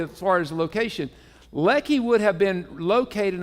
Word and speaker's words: Lehi: h how do you think it would be pronounced what Lehi Lehi well you're close Lei well it's Ley you were closed on Good shot now there's